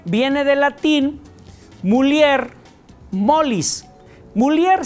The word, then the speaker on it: mulier: de latín mulier molis mulier se escribe con doble l pero a diferencia del español no suena como una doble l o una ell es decir no suena y sino una l marcada l Entonces se diría